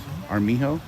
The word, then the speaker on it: Armijo: Armijo? Is that what it is? Armijo? Is that how you pronounce it? Yes.